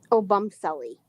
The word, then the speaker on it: Obumseli: Obumselly. Oh, oh, oh, Obumselly is how I would say it.